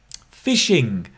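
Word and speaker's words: phishing: because they have influence fishing right fishing pronounced like fishing catching your fish but on the internet right slightly slightly different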